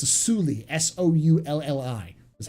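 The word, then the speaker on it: Soulli: the details of the contract exactly it's a suli s-o-u-l-l-i that's how you pronounce it where would i start if i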